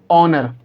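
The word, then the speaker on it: honour: हमारा रूल हमको ये बताता है कि ओ से पहले एच आएगा तो एच साइलेंट होगा। तो हम इसे क्या पढ़ेंगे? ऑनर। इसे हम क्या पढ़ेंगे? ऑनेस्ट।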